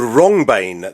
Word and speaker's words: Wrongbane: Right, so this is a flower called rongbane. That's spelt wrong as in bane. Rongbane. Sorry, it's wrong as in Bane. Well, so it's spelled WRONGBANE. Got it.